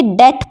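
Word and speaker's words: debt: बी टी लेकिन हम इसको डेप्थ नहीं पढ़ेंगे डेट पढ़ेंगे उधर जो भी आप समझ सकते हैं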